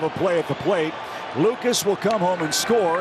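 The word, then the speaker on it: Lukes: hits in three tries it's Lucas at second base that's how he pronounce his last name it's his big L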